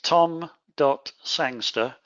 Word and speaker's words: Sangster: It's tom.sangster. That's spelled S-A-N-G-S-T-E-R, kind of like gangster, only with an S at the beginning.